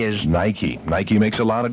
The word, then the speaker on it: Nike: k e so n i ke e is Nikey Nike makes a lot of different shoes in